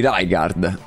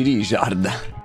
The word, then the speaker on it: Rijkaard: Mica dici Rijkaard. Dici Richard.